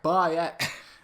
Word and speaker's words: Bayek: To be fair, when I first heard his name, I couldn't pronounce it. I sounded like a Yorkshireman, like Bayek. It didn't sound right. But it's easy. Like when you get to know how to pronounce it, it's much easier than other characters that have appeared.